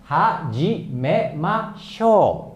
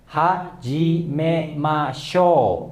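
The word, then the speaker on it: はじめましょう: Ya, jadi cara bacanya hajimemashou. Ya, oke teman-teman, coba ulang lagi. Hajimemashou.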